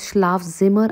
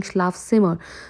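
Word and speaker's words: Schlafzimmer: rules while learning German for examples I'm not pronouncing this as schlav Zimmer I'm saying schlav simmer so Z is pronounced in German and now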